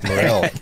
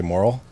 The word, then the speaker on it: Morril: Morril. No one ever gets it right, and I don't like to correct people. What did they say, moral? Moral, yeah. Moral phonetically it looks moral, but it's not, you know.